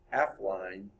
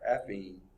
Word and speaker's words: affine: of an image and performing an affine, or affine, I think is how you say it, there's no L in it, affine's transformation to form new vectors, and the image piece that is distorted.